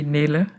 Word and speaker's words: Nele: Or in German would be Nele.